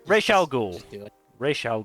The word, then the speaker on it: Ra's al Ghul: All right, Ra's al Ghul.